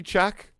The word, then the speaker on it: Cheque: Buddy Check. Buddy Check. It's spelled like a Q. It's spelled the French way.